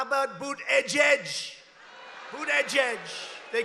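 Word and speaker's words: Buttigieg: these people how about boot edge edge who that judge they call him mayor pete you know why because nobody can pronounce his name nobody has any idea they say say edge edge and he presides over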